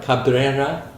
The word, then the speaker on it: Cabrera: Fernando Semele on drums, and Nati, can I pronounce her last Cabrera. name? Cabrera, Yes.